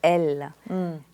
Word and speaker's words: Elles: I call this name l l means uh it's a French feminine pronoun for they and with with the S at the end exactly which you don't pronounce and yeah IND L